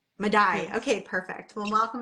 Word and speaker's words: Maday: It's pronounced Maday. Madai.